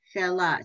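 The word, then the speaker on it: שלה: Shela, so you don't pronounce the H.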